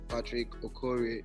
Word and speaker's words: Patrick Okorie: it's it's actually been a while so it's patrick or corey is that how i pronounce it yes patrick okorie nimika okay fantastic so uh we all know